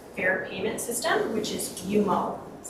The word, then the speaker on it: Umo: our new electronic Fair payment system which is yumo that's how it's pronounced not uh UMO uh it's yo um so I'll just go